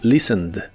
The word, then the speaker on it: listened: En el pasado es listened. Es muy similar a la forma del presente, pero en este caso se le agrega una ED y solo se pronuncia la D.